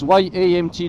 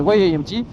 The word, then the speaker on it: Y-AMT: Ils veulent qu'on prononce YAMT dans toutes les langues, donc Y en anglais, et non pas YAMT.